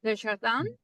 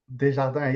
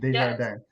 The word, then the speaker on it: Desjardins: The Jardin. Desjardins. Yes, you said it well. It's not an easy name for Anglophones to pronounce. So, Yes. Desjardins.